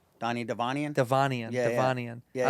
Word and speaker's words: Devanian: Donnie Devanian.